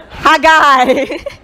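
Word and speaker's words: Haggai: pronunciation and someone said it's like ha you're a guy ha guy so in the book of hagai chapter one it's this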